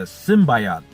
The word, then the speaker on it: symbiote: But what we know is there's this corporation that found they worded this weirdly, the symbiote, like it was like symbiote. Like now I'm mixed up on how to pronounce it.